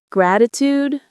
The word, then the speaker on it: gratitude: Gratitude brings me peace. Say it again slower. Gratitude brings me peace. Let's practice pronunciation. Gratitude. Stress on the first syllable. Gratitude. Make it sound warm, not flat.